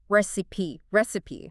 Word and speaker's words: recipe: the pronunciation here three syllables stress on the first recipe need to say all